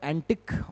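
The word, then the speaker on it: antic: एक वर्ड होता है एंटिक और एक है एंटीिक। प्रोनाउंसिएशन में डिफरेंस है। First is एंटिक and second is एंटीक।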